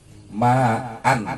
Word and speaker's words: ma'an: Ma'an seperti ma'an dibacanya ma'a satu alif.